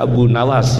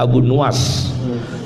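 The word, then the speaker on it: Abu Nuwas: Jangan baca Abu Nawas, yang benar Abu Nuas.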